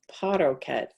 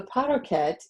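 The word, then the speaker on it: parochet: So that one is spelled Po-Ra-Chet. All right. I've always known it as Paroket. So I don't know, something like that.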